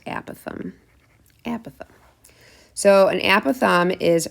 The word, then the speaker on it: apothem: An apithe, some people call it an apothem, but it's actually pronounced apath.